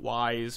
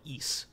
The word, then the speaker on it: Ys: is the correct pronunciation of the series that is spelled Ys. So like a lot of people would call that Ys back in the day, or you know, something to that degree, but it's called Ys, which is based off of a similar legend